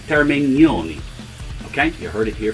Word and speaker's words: Termignoni: your information my friend said that this is pronounced termignoni okay you heard it here first or maybe